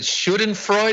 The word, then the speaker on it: Schadenfreude: No, you said as it schadenfreude, how do you pronounce that word?